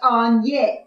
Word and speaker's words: Agnes: magnus oh you know i prefer to be pronounced on yes i think it sounds